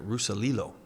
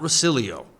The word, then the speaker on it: Rusalilo: He taught me how to say his name. Rusalilo. Not Rusilio.